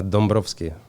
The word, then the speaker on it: Dombrovschi: y guine y guine how do you pronounce the last name uh dombrovski that's actually a little